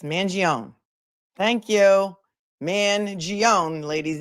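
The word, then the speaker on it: Mangione: mangion allegedly allegedly right there's no e it's Manon thank you man gon ladies Zelda is gonna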